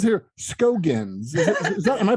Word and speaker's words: Scoggins: How do It says here Skoggins. Is that Am I pronouncing it right? Skoggins.